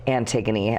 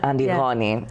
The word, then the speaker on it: Antigoni: For my mom, I'll always be, mostly Antigoni, which is the Greek pronunciation of Antigoni.